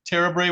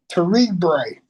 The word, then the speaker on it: Terebre: are we pronouncing that correctly, sir? Terabray? It's Terebre. Terabray, thank you.